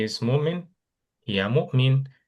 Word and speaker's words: مؤمنة: গোলতাটা হায়ের মতো উচ্চারণ হয়, সো হিয়া মুমিনা।